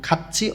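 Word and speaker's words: 같이: যেমন খাচ্ছি অর্থ একসাথে বা একত্রে, থিউত বাচ্চিমের পরে যখন ই আসে তখন থিউতটা ইর এখানে গিয়ে ছয়ের মতন উচ্চারণ হয়, এটা বাচ্চিমের নিয়ম। খাচ্ছি একসাথে বা একত্রে, ইল কাজ, সিজাক খাদা শুরু করা।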